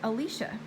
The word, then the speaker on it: Elisha: but she said that she always pronounced Elijah like Elijah as well but she says that she was corrected that it's actually Alesha I never knew that